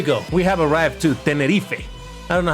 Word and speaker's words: Tenerife: There's I think I saw the Spanish flag, so that's why I know that they pronounce it Tenerife.